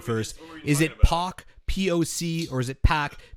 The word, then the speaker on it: PAC: Jericho versus hangman Park not PAC okay it is POC so